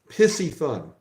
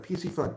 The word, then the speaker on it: Piscifun: bothers me pissy fun pisy fun if you can't even go to the website and figure out I mean they tell you how to pronounce it on their website PC fun it's not that hard how are you